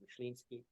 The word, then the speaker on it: Myslinski: last name, to say it right, is Polish. It's Myslinski.